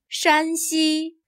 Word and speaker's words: 山西: There is a very subtle difference in the tone of the first syllable. Here, 山 has a high-level tone. 山西. Here, 陕 has a lower, falling tone. 陕西.